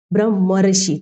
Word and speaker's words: ब्रह्मर्षि: यानी कि उच्चारण में जो है अर आता है, जैसे ब्रह्मर ऋषि तो अर ब्रह्म धन ऋषि आ और री के योग से उच्चारण में जब इस शब्द का सामूहिक उच्चारण अपन करते हैं तो कुछ इस प्रकार अर का साउंड जो हमें सुनाई देता है।